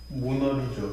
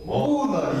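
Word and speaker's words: Mona Lisa: 모나리자. 그래. 여기 강하게 읽으면 뭐라고 읽습니까? 모나리. 아니죠. 모나리자. 모나리자가 되죠.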